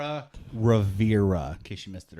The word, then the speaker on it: Rivera: so I'm all like, Yara Rivera, in case you missed it earlier. it's Rivera, not Rivera.